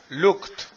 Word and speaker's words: looked: stop con t stopped Look looked Look estoy diciendo te al final Look Look Rey no